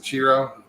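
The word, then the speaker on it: Ciro: chiro sounds what's up I know how to pronounce it chiro but because my first wife's uncle I think he said this who lived in Italy his name was chiro c i r o but it was CH Cho chiro yeah he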